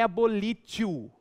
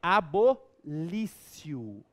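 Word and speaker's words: abolitio: Não é abolítio. É abolício. Abolício.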